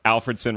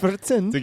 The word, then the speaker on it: Alfredson: fun with me because apparently I didn't pronounce Alfredson right. I don't have like the Swedish. It's Alfredson. Is that how you did it?